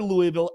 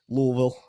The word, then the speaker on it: Louisville: uh Josh say my my Kentucky family calls it Louisville someone I heard someone say the other day when you say it you have to say it like you've already had like at least three glasses of bourbon Louisville it's Louisville all